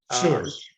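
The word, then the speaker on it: Schure: Then you went back to New York University, where Alexander Shure, do I mispronounce his last name? Sure.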